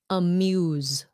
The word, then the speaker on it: amuse: a little complicated now amuse amuse the E turns the U into a long vowel amuse sounds like